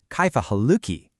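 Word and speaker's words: كيف حالكِ: And if you're speaking to a woman, you'll ask, Kaifa haluki? It's that simple, really. Haluk ah for a man, haluk e for a woman.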